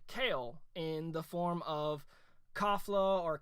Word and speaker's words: Kefla: But we got to see the fusion of Caulifla and Kale in the form of Kafla or Kefla. I believe the Crunchyroll subs was Kefla. They pronounce it Kafla.